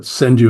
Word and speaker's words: senryu: It's senriu is the way it looks, but senu is the way it's pronounced. Senriu. Okay. Yeah. The r is pronounced as a d basically.